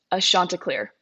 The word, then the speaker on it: Chanticleer: Now, how do you pronounce your mascot? a Chanticleer. A Chanticleer. See, Chanticleer.